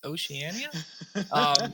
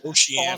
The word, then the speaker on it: Oceania: This weekend is the Oceania, however you pronounce Oceania, Oceania qualifier. Which there's an I in there. You just not say it? I don't know. You don't. Yeah, I used to live down there. It's silent.